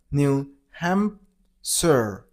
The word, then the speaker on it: New Hampshire: New Hampshire. New Hampshire. You gotta stress on ham syllable, so New Hampshire.